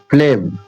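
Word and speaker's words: phlegm: ये एम जो जी है, जीएम हो तो जी साइलेंट हो जाती है, जी साइलेंट हो जा रहा है, एम के लिए मां बन जा रहा है, फ्लेम।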